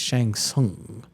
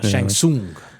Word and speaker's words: Shang Tsung: No, no, it's Shang Tsung, you know, Shang Tsung, you know.